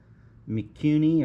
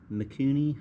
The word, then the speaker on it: Mikuni: up put back on it's a mikuni or mikuni however you want to pronounce it m-i-k-u-n-i seems like a good